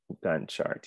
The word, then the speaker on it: Gantt: a t let yeah is it gone or not how do you pronounce it again i'm almost reconciled let's let's use google pronounce and see if i'm correct gantt chart gun chart yes all right let's look